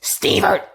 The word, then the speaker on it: Stevert: It is pronounced Stevert, and that is not my kid.